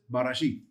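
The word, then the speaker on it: בראשית: Now, mind you, in the word here, if you read it down in the text, it's just barashith. And you would say it that way. You would pronounce it as barashith.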